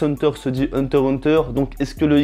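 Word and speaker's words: Hunter × Hunter: à savoir que Hunter x Hunter se dit Hunter Hunter, donc est-ce que le X se prononce?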